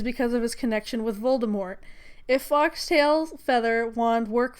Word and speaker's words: Voldemort: I would just like to first point out that you're mispronouncing Voldemort's name. I'm gonna say Voldemort, so you can just deal with it.